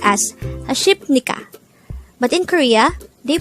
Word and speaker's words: 하십니까: Just a reminder, when we spell 하십니까, it would seem like it is pronounced as 하십니까. But in Korea, they pronounce it as 하십니까. Not a P, but an M sound.